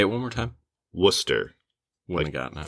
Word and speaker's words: Worcester: Worcester. Wouldn't have gotten it. Phonetically, it's WUH-stir.